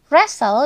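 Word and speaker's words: wrestle: akan mengupasnya dengan sederhana contoh paling umum dari silent Letters adalah penggunaan huruf k p dan W huruf-huruf ini ada tapi kita tidak mengucapkannya contohnya pada kata Knife yang berarti pisah restle yang berarti beradu dan psychology yang berarti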